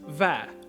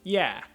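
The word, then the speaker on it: và: In Hanoi, it's pronounced va, while in Saigon, it's pronounced yeah.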